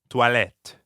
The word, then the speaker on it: toilette: Toilette. Toilette. Perfect. We're hearing the same ah sound that we hear in croissant, or at the end of bonsoir, croix, soir, toi, toilette, Toi.